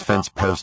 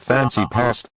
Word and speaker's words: fence post: past fancy past what that's pronounce fence post not fancy past now I don't want